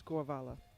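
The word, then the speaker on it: Głowala: Because on Good Lift it's represented as an L, but it is the Polish letter that is an L with a cross through it, so it's Głovala.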